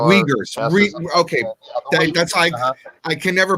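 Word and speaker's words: Uyghurs: how you say it well the wiggers the UI G he R wiggers okay that's I can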